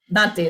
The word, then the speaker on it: Dante: that is pronounced as that? Dante? Dante.